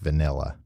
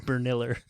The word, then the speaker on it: vanilla: It's pronounced vanilla. What did I say? Vanilla. I said Berniller.